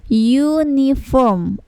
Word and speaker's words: uniform: Sama ya yang di bawah, Ini U itu dibacanya uniform, a uniform. Jadi yang terdengar pertama kali yakni huruf Y. Huruf Y, uniform, bukan uniform ya, tetapi uniform.